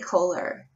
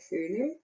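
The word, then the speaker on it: Köhler: you haven't there's probably kohler and i know i don't say his name right i have a german friend of mine said it's something that cooler true okay cooler um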